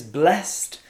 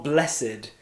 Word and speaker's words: blessed: very bright number four is blessed or blessed you can pronounce it in two different ways and you will hear both used this word we use